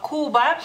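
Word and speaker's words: Kuba: no se pronuncia como la c en español así que la cambiamos por la k es Cuba Cuba la u es corta lituano no no hay que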